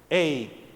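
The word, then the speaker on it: הא: esa letra en hebreo es Hey H se suena como Hey como un saludo de nosotros Hey de manera que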